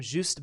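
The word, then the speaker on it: Juste: one great question uh it's a French name so it's it's j s but I think it's is how you say his name juust Belmont a descendant of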